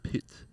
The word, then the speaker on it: Pyth: Because, if you try and really say it like full Swede, it's like Pit.